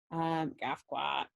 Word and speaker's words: Gafquat: This is Gafquat, by the way. Gafquat. You can say it like Affleck.